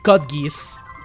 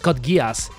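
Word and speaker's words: Code Geass: Oh, do do you do you mean cut geese? Do you mean cut geese or cut gas? Actually, it's it's pronounced Kodgas because it's not far from the truth.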